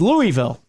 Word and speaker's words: Louisville: interrupt me with it it's Louisville it's Louisville I got you